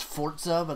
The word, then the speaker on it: Forza: really good as well I say Forza I know it's Fords OVA that just sounds stupid they wanted people to pronounce it that way why didn't they put